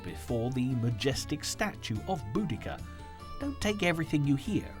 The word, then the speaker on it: Boudicca: is go back to her name which today we pronounce as buddika however for anyone watching this who was born before 1960 boa deia is the only way to pronounce this Warrior Queen's name so